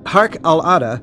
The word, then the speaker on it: Harq al-Ada: This Arabic name, Harq Al-Ada, is pronounced Harq Al-Ada, Harq Al-Ada, Harq Al-Ada.